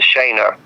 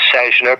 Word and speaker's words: Sejna: One of the highest rankings, one of the most important Soviet defectors ever, General Jan Sejna. I always pronounce his name Sejna phonetically it would be Sejna, s e j n a.